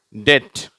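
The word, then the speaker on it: debt: டெட், கடன். இதில் இந்த பி என்ற எழுத்து உச்சரிக்கக்கூடாது. சரியா? டிஇடி இருந்தால் எப்படி இருக்கும்? டெட்டுன்னு சொல்கிறோம் இல்லையா? அப்படி தான் உச்சரிக்கணும்.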